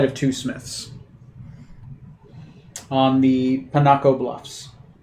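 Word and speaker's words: Picocca: two smiths on the panaco bluffs sorry panaka i can never pronounce that let me remove cities in town p-i-c-o-c-c-a bluffs pinocchia bluffs i can give you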